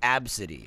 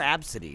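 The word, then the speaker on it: Abcde: But yeah, it was like, her name's pronounced Absidy. It's like, well then name her Absidy, not ABC.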